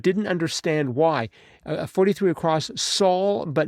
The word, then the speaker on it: sol: sol, la, ti, do, I don't hear sol. I hear so. So, a needle pulling thread. yeah, they don't say sol, a needle pulling thread. That is, the L is silent.